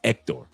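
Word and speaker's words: Héctor: Hector la or is it's not even Hector. It's ectctor. The H is silence. Ectctor la. That's how you pronounce it in espanol.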